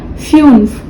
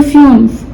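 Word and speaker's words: fünf: and fifth का फ्यूफ you lout है तो इसलिए इसका प्रोनाउंसिएशन यू होगा तो फ्यूफ सिक्स का जैक्स सेवन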